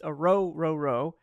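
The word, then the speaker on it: Orhorhoro: I love Orororo's tape, and that is how you say his name. It's, it's kind of intimidating, I understand, but it's Orororo.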